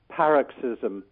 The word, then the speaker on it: paroxismo: be searching for is paroxismo the accent is on the first vowel the long vow the beginning paroxismo ISM yeah I hope